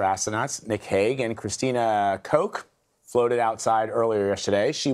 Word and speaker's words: Koch: Is it Koch? It's pronounced Koch.